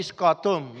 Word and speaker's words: scutum: So, pero, the other shield naman is about the Roman shield or the scutum, no? Tignan niyo, tama yung spelling, ha? Baka mamaya magkamali kayo ng bigkas.